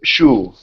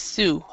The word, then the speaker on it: Sue: Sometimes some people pronounce shoe. Is it correct? No, it's always Sue.